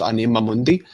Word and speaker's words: anima mundi: I should say it as it's supposed to be pronounced anima mundi from RuneScape. It's Latin for soul of the world.